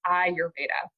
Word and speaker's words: Ayurveda: a lot of different ways, but it's really pronounced Ayurveda. And it is the science of longevity. So Ayur means life in Sanskrit, and Veda means knowledge or science. So Ayurveda is all about the science of longevity, the science of life.